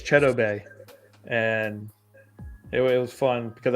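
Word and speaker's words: Chidobe: media and he's like that's not how you say my name like it's cheddar bay and it was fun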